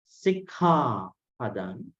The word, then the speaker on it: sikkhāpada: So I think one of the things that I noticed was that this H sound, aspirate, right? This part, this is very interesting. This one has to be pronounced with an aspirate. Sikkhapada.